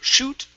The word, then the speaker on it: shoot: pretty good except for shoot okay instead of shut the puck okay give me an oo sound here so shoot shoot the